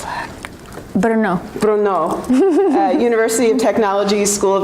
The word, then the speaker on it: Brno: She went to, pronounce that? Brno.